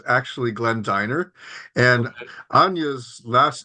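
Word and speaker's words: Dynner: just want to say my name is actually pronounced Diner I should have told you beforehand so it's actually Glenn Diner and Ana's last name is actually chopad but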